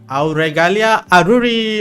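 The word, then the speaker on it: Auregalia Aruri: next you also got aalia aruri okay I didn't screw that anyway please introduce yourself that was like the only time anyone has ever pronounced my name accurately hello everyone welcome to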